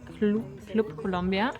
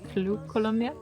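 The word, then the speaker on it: Club Colombia: as it turned out CL columia but I think it's pronounced cloop columia everybody says it like that and also they're selling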